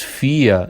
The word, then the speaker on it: Führer: É aquele que lidera, mas normalmente se diz Fia em dialeto porque em